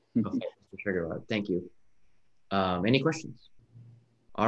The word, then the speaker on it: Schweigeraht: I'm not gonna, if you could tell me how to pronounce your name, I will pronounce it, but I'm I don't want to be rude. People do. Schwiggerot. Okay, Mr. Schwiggerot.